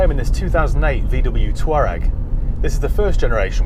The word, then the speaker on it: Touareg: people from the sahara tuareg not torag not tol rag not toe rag not